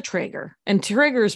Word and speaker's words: Treyger: Treyger? Yes, perfect. Yes, I did it. It's Liza Treyger, but it's spelled Liza, L-I-Z-A, in my head.